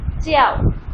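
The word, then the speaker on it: 叫: च्याओ क्योंकि जे की pronunciation Chinese में चे की साउंड देते हैं ची की साउंड देते हैं ची निशेस में हम पढ़ चुके हैं. तो ये क्या वर्ड हो जाएगा च्याओ. च्याओ टू be called fourth tone के साथ. फोर्थ टोन को हम हमेशा थोड़ा सा सख्ती के साथ प्रोनाउंस करते हैं.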